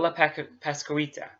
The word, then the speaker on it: La Pascualita: This is about La Pascualita.